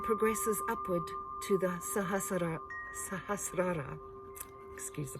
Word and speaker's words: Sahasrara: the earth and progresses upward to the sahasra sahasrara excuse the pronunciation which connects us with the universe and the divine source of creation sahasrara is located at the crown of the head